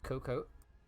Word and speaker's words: AFK For Cocoa: day under team page it's a silent a just pronounce it as cocoa all stuff then coming out